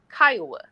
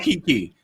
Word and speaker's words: Kimmi: Y'all keep calling that woman name wrong. It's Kimmi. I know I was like I'm going to go call her Kiki. It's Kimmi. Kimmi Kimmi Kimmi.